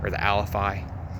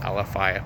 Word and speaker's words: Alafia: Somebody in the comments, I'm sure, is going to say you're pronouncing it wrong. It's Alafi. Vast majority of my life I've called it the Alafia, but I know it's technically the Alafi River.